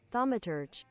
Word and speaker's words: Thaumaturge: It's okay, so Google told me that you say it like this. You say it like this. Thaumaturge. Thaumaturge. Thaumaturge, not turd.